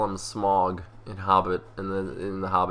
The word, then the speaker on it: Smaug: I think it might be pronounced differently than the S-M-A-U-G version in The Habit. But regardless, I've always called him Smaug. Smaug. It might be Smaug. Because the AU makes an ow sound, as opposed to that's the thing